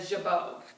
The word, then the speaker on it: jabot: The ruffle there, it's actually called a jabot. Jabot. Yeah, it's either jabot or jabot. It's J-A-B-O-T is how it's spelled, which we just talked about Monet and so how the T is silent, it's French.